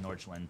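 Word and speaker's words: Nordsjælland: I have to like go and watch highlights of Norchland today to know how to say their name. Norchland. It's like Norch. Yeah.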